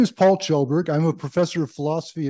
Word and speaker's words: Kjellberg: room um I'm Paul chelberg my last name is pronounced like a CH but please just call